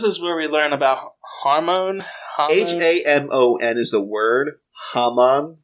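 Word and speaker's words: Hamon: where we learn about hormone h-a-m-o-n is the word haman but they always pronounce it with an r hormone hormone hormone hormone something like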